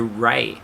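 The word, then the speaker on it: Raeh: This Rey is spelled R-A-E-H. R-A-E-H. That's hard to say. Yeah. R-A-E-H. So Rey.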